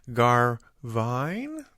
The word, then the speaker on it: Garvine: welcome at this time to the show JJ garvine did I say it right oh yeah that